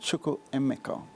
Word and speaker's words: Chukwuemeka: So I say it's pronounced Chukwuemeka. That's more the African pronunciation as opposed to the English pronunciation.